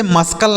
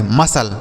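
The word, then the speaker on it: muscle: पढ़ेंगे इसे मसल पढ़ेंगे इसे मसकल नहीं पढ़ेंगे मसल ठीक है एस और सी जहां लिखा होता है तो वहां सी साइलेंट होता है ठीक है एस और सी एक साथ लिखा हो तो वहां सी जो है साइलेंट होगा मतलब उसे नहीं पढ़ाया जाएगा तो इसे पढ़ेंगे मसल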